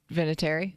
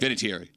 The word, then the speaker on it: Vinatieri: Vinatieri. Is that how you say it? Vinatieri.